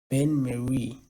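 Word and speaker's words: bain-marie: explain them first then Ben Marie b a i n m a r i e Ben Mary so a Ben Mary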